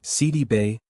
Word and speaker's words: Sidibe: It's Si-dee-bay, like city by the bay.